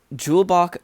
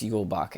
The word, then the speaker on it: Julebok: Bet it's Yulebok and not, I bet it's, the J is supposed to be pronounced like a Y and not a hard J.